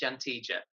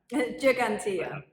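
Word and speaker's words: Ġgantija: The G with the dot is like a J.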